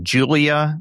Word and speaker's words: JVLIAH: Julia, and it's spelled with V, so JVLIAH has some good stuff.